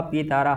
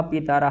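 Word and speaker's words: पितरः: धनानी ठीक आ आर्या पितर पुत्रा आचार्या पितर पुत्रा पित्र नहीं है पितर ठीक अलग अलग अक्षर है तो उनका उच्चारण भी करना चाहिए पितर आचार्या पितर पुत्रा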